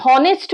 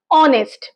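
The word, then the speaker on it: honest: হ তো এখানে আমরা হনেস্ট বলছি না অনেস্ট মানে এইচ এর উচ্চারণ সাইলেন্ট আছে এবং সেটা ভাওয়েল সাউন্ড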